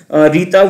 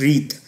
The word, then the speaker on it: Rita: Rita, we can it can be read as Rith. I'm reading it as a Rita because it is spelled like that.